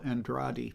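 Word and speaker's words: Andrade: A lot of times people get the name wrong, but it's Danielle Andradi.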